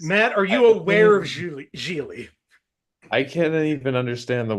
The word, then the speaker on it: Gigli: That's Giggly. oh god, that's hilarious. Matt, are you aware of Gigli?